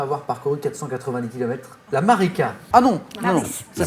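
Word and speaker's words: Maritsa: La Marika. Ah non, non, ça s'écrit Marika, mais on prononce Marika.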